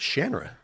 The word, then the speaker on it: Shannara: Shannara Shannara yeah yeah Terry Brooks says it's Shandra yeah it was one of those I said Genera my whole life I did too and